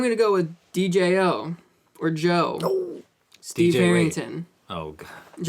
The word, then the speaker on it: Djo: It is pronounced Joe.